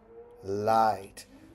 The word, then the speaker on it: light: l i light now notice GH GH made this along I so when I'm segmenting I'm still tapping three fingers but it's because the I takes G and H together to make a long I sound okay now you can